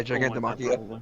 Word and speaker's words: Gigantomachia: I never pronounced that dude's name right. Is it Makia? Yeah, Gigantomachia.